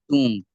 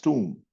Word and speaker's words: tomb: Sir, I think it is tomb. Sir, uh, be silent. Sir, it's tomb. Correct. It's tomb. It's not to, it's tomb. Be silent.